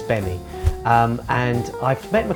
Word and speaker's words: Gbemi: It's spelt Gbemi, but it's Gbemi.